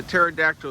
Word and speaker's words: pterodactyl: It's odd cuz a pterodactyl is spelled with a P.